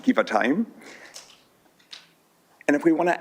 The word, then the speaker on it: Givatayim: Let's build and strengthen those relationships with Givatayim, pronounced Givatayim.